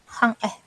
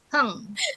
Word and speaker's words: hung: Ya tulisannya hung. Cara bacanya Iya, apa? bacanya hang Bukan. ya? Bukan. Cara bacanya heng ya. Apa, Heng. Miss? Heng. Heng. Ya. Heng. Coba diulang. Berarti U-nya diganti pakai E. E. Cara Heng. bacanya E ya.